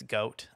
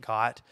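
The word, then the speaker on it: Goht: mentions um uh that he doesn't like the fact that it's goat um that he pronounces it got but it is goat if you look at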